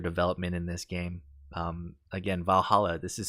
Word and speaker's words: VA-11 HALL-A: Again, Valhalla, this is spelled VA-11 HALL-A.